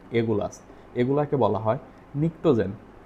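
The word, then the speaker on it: pnictogen: আছে এগুলাকে বলা হয় নিকটোজেন নিক্টোজেন বানানটা হচ্ছে পি দ্বারা শুরু হয় এন আই সি টি ও জি এন নিক্টোজেন নিক্টোজেন মানে হচ্ছে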